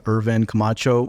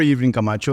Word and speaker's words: Irvin Camacho: My name is Irvin Camacho, or Irvin Camacho, if you want to pronounce it in Spanish.